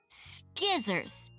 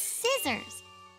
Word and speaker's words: scissors: It's scissors. But which letter is silent? That S at the beginning stands for the S sound. Oh, I get it. The C doesn't have a sound.